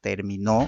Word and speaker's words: terminó: Por eso es que la acentuación viene en la segunda sílaba y en el tercer terminó viene en la tercera, ¿no es cierto?